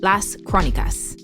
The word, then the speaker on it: Las Crónicas: We're calling these in-between episodes the Chronicles, Las Crónicas. Perfect pronunciation, Lexi.